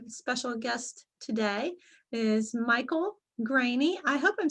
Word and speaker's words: Greaney: my channel a special guest today is michael graney i hope i'm saying your last name correctly